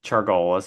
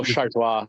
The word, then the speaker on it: Chargois: the Mariners, they cut JT Chargolis. I don't know, Chargus. I don't know how to pronounce that name. Yeah. Sam Haggerty. Oh, Chargois. Yeah, JT Chargois.